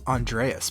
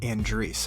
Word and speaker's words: Andreas: name right because you would think that it's pronounced Andreas, but it's actually Andreas, and I nailed it, and I'm pretty proud of that.